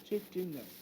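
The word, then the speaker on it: chitinous: तुम कहोगे प्रोनाउंसिएशन भैया, तो भैया लो चिटिनस, ठीक है।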